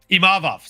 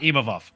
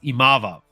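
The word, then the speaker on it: Imavov: takedowns it was the imov show imav sorry not ovov I'm trying very hard not to say ovov because that's not the way you say his name it's imav uh and John anic said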